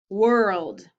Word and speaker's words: world: little tricky huh okay let's try another one world or or it sounds like er so which one would it be it would be or world nice okay let's